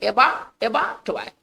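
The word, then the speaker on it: abattoir: इसका उच्चारण हम करेंगे एबाटवायर।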